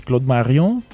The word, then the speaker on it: Claude Marion: Okay, you understand from the name that it's we have to pronounce it in French. It's Claude Marion.